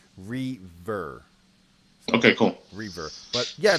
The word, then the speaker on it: Reaver: Caleb says it is pronounced Reaver.